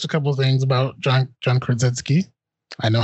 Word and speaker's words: Krasinski: First and foremost, so I've watched a couple of things about John Krasinski.